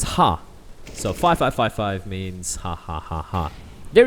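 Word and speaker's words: ห้า: if I'm wrong but in Thai five is pronounced as ha so 5555 means haaa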